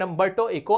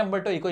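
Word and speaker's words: Umberto Eco: Paragraph from an interview between Mukund and a representative from the Hindi newspaper and अंबटो इको a professor. एक professor है अंबटो इको इनका नाम है। अगर मैं सही प्रोनाउंस कर रहा हूं वो इनका नाम ये बता पाएंगे क्या है?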